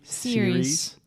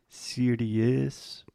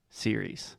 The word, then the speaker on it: series: first the word series say that with me series nice a lot of our students have the tendency to say something like cd is because we have the i e at the